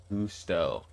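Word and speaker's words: Gusteau: Definitely not spelled right, but it's pronounced Gusto.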